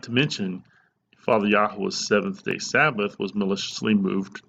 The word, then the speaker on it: Yahuah: And his name, again, having been all but erased from the Bible through tampering, is and always will be pronounced Yahuah.